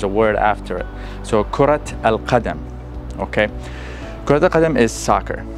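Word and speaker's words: كرة القدم: So you see, we pronounce the ta marbuta because we are going to say al-qadam, kurat al-qadam.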